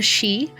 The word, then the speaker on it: Sidhe: Port Ecne is an area known as the she spelled um I'll put it in chat. S I D H E. Thank you Gaelic. We love you. Um but it's pronounced the she and it basically means the hills.